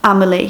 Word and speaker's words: Amelie: It's pronounced but with an A. Amelie.